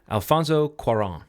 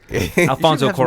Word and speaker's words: Cuarón: How do you pronounce this director's name? Alfonso Cuarón.